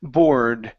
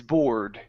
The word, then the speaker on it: board: so this is or Bor while on his Bor b b okay almost give me a good R sound there Bor Bor Bard there